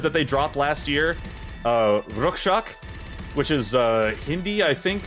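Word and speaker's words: Rakshak: Bloodywood, their recent record that they dropped last year, Rukshak, which is Hindi, I think, for Guardian. I know it's translated to Guardian, but I think that's the proper pronunciation. Rukshak. R-A-K-S-H-A-K. Rukshak. It's definitely something I would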